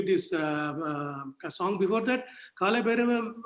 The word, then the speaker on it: Bhairava: Before that, Kala Bhairava, the Bhairava has got 3 syllables, Bhairava.